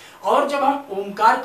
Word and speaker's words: ओम: प्रदान करता है क्योंकि ओ तीन शब्दों से बना है आ उ और म आ उ और म तीन शब्द से ओम बनता है और ओम का जब